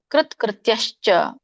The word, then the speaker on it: ಕೃತ್ಯಶ್ಚ: ಸ್ಯಾತ್ ಕೃತ್ಯಶ್ಚ ಕೃತ್ಯಶ್ಚ. ಕಕ್ಕೆ ಒಟ್ರ ಸುಳಿ ಇದೆ. ಕೃತ್ಯಶ್ಚ. ತಕ್ಕೆ ಯವತ್ತಿದೆ. ಕೃತ್ಯಶ್ಚ ಸ್ವಲ್ಪ ಉಚ್ಚಾರಣೆಗೆ ಅಡಚಣೆ ಆಗತ್ತೆ ಅಲ್ಲಿ. ಕೃತ್ಯಶ್ಚ ತ್ಯ ಹೇಳುವಾಗ ಅದನ್ನ ಪ್ರಾಕ್ಟೀಸ್ ಮಾಡಿ.